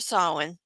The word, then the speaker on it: Samhain: I gave A Curse for sorry, I keep wanting to pronounce that wrong. A Curse for Samhain.